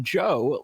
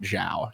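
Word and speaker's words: Zhou: It is pronounced Joe, like rhyming with O or toe. I think we were mispronouncing it Zhao here. So for sure. Joe.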